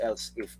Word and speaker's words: elif: We read this as else if, by the way.